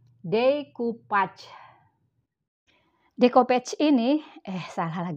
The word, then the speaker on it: decoupage: bahasa Perancis yaitu developer konon pengucapannya Bukan decopage tapi decoupage Hai decopatch ini eh